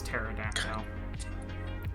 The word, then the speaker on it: pterodactyl: No, because when it goes to the bathroom, the P is silent, so it's pterodactyl.